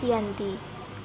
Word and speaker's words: Giyanti: Dalam pelafalan Belanda, ia tersebut sebagai Ianti, dan secara tertulis, ia terbaca sebagai Giyanti.